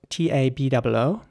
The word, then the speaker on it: taboo: The next word is spelled Taboo, and in British English it would be taboo with the R sound at the beginning. Taboo. Definitely a taboo against that. Plus, if she got disfigured. Whereas in American English it would be more like taboo with the R sound for the A letter.